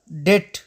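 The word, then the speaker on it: debt: پای کې د ام څخه وروسته راشي نه تلفظ کېږي. اگزامپل یا مثال: ډیټ.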